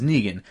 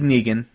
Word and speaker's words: Negan: kind of teases negan which by the way I never known if his name was France negan her Nagin is spelled Megan in e GaN but I've also always said in my own head his name was negan so that's an interesting thing